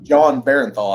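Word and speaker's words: Jon Bernthal: I definitely burned through the Netflix Punisher series with wow, actor's name is escaping me, but I would John Barenthal, I think is how you say it.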